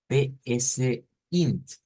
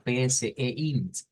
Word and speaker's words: PSeInt: Bueno, en algunas universidades he escuchado a los estudiantes llamarle este programa PSINT, algo así, pero la verdad es que lleva no solo es PS, ¿verdad? Lleva PSEINT, algo así sería la pronunciación.